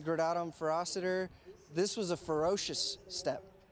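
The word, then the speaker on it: Gradatim Ferociter: You know, at Blue Origin we say gradatum ferociter. This was a ferocious step. Yeah. Oh, I'll chat a little bit. It's the real pronunciation would be gradatum ferociter, if I remember.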